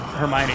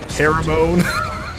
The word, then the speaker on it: Hermione: When everybody went to see that movie, everybody looked around the theater when they said Hermione. It was like, whoa, we all got that wrong. Do you remember what you thought it was? Like Hermione or something. I don't know. Yeah, I think I used to call her Haramone.